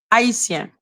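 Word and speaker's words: Haïtien: Haitien. That is how we say Haitian, or whatever the fuck how you say it in English. In French, you say Haitien. We don't have the H sound in French.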